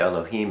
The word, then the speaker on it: Elohim: Aleph, you can be pronounced A, E, and A. Lamed is pronounced L, the L. Hey is, the breath. Yod is pronounced E, and Mem is pronounced with an M.